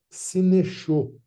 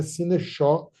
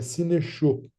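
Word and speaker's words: συνέχω: escreve assim, ó, sinechô, sinechô. Tem tipo um acentozinho no O que deixa ele fechado. Não é sinechó e nem sineixo. É sinechô, certo?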